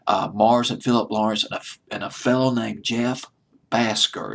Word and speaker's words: Bhasker: Mark Ronson wrote this record along with Bruno Mars, Mars and Philip Lawrence, and a fellow named Jeff Basker. It's Bhasker. I'll just pronounce it as Basker.